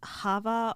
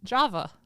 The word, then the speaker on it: Java: be talking about um I don't know if it's Hava or yava or Java um j a v a like the coffee I don't know how do you say that Java Java oh like Java